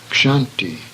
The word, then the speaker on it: Kshanti: The next series of words illustrates the sound of ksha, which should be pronounced as in the English words buckshot, Berkshire. Kshanti, patience, third in the